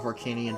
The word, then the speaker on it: Harkinian: The reason why we know how it's pronounced is because it's supposed to be named after the King of Hyrule, King Harkinian.